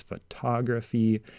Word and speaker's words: photography: get an accent shift so the accent here is photograph and here it's photography and when the word